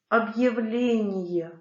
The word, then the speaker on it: объявление: Буквы Е, Ё, Ю, Я дают два звука после твердого знака. Съел, съел. Подъем, подъем. Адъютант, адъютант. Объявление, объявление.